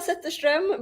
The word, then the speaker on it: Zetterström: It's Zetterström, but it was kind of close.